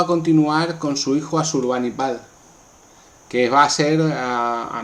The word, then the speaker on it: Asurbanipal: Asurbanipal, que también se puede pronunciar Ashurbanipal, fue el último de los grandes reyes asirios de la dinastía sargónida.